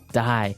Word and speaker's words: dye: Dye. So it's pronounced exactly the same way as, you know, to dye to not live anymore.